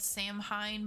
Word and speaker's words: Samhain: Okay, so my favorite holiday is called Samhain, which is, I mean, it looks like it's spelled Samhain, but it's Samhain.